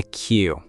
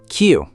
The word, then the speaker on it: queue: And in Britain, we stand in a queue. Queue. Q-U-E-U-E. Queue. That's a funny looking word with all those vowels. It is, and it's pronounced just like the letter Q.